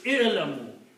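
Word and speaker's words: اعلموا: So, what we do, we just add an alif for just help of pronunciation. Just add an alif there. So, now you can pronounce it. And the pronunciation will be ilamoo.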